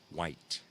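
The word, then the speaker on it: Wight: uh the Isle of white now it's spelled wri I G HT but it is pronounced white the Isle of white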